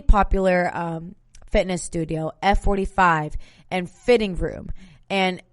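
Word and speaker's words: FHITTING Room: So really popular fitness studio, F45 and Fitting Room. And it's spelled as FHITTING, Fitting Room.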